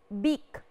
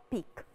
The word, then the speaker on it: beak: beak very good peak because it starts with letter b big difference between p and b so this one is big not peak number eight look at